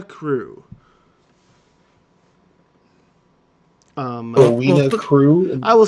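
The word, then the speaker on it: Crewe: I been so busy I am a froa crew um crew I will spell it for you because it's very hard p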